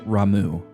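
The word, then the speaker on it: Ramuh: you want to say it so I I pronounced it Rama all my life but um now that I can read Japanese it's it it should be pronounced ramu which I still think is weird right but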